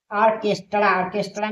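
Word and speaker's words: orchestra: ऑर्केस्ट्रा में क्या है, एच साइलेंट है।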